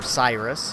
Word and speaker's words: Sirius: the first one is called Sirius and or Cyrus if you want to pronounce it that way I guess it depends on where you're from that this was developed